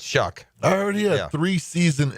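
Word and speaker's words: Shough: It's Shuck.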